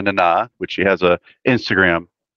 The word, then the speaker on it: Nana: It's pronounced Nana, like Mama Nana, which she has a Instagram that does.